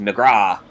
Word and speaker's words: McGrath: In Australia and New Zealand, it is pronounced McGrath.